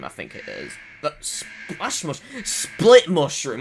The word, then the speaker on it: Split Mushroom: But he is like pronounced differently in the text. It's Sprit Mushroom. Because obviously L and R and L sounds in Japanese are sort of different sometimes.